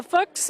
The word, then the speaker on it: Fuchs: I'm telling you, the Fuchs are the best in the books. See, like how I did that? Yeah. Ron told me it rhymes with books.